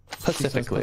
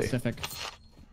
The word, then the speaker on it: Pacific: I was just talking about why me and Stevie's daughter could not be friends because of how she pronounces Pacific. Specifically. Pacifically. Pacific. Pacific.